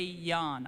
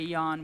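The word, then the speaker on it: Jahn: The recommendation of the Criminal Division was that that would be Mr. Ray Yan. I believe the last name is spelled J-A-H-N, who had had extensive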